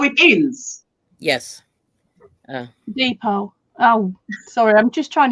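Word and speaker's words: deed poll: Deed-poll.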